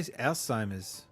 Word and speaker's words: Alzheimer's: Alzheimer's is supposed to be pronounced like a T. I say Alzheimer's.